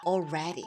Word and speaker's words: already: already. 자 올래 아니에요. D를 부드럽게 리얼로 발음을 해서 한번 해 보실까요?